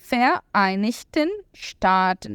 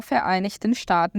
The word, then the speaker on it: Vereinigten Staaten: Vereinigten Staaten. Muita atenção, né? Para a pronúncia.